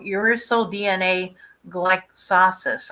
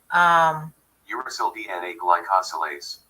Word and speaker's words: uracil DNA glycosylase: So here it is, called uracil DNA glycolysis, I guess. Let's see how they say it. I think that's how they say it. I won't play. But anyway, uracil DNA glycosylase.